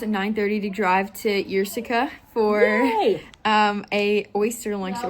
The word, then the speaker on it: Ierseke: It's a little town called Ierseke, not Yerkski. Which is how it looks like it's spelled.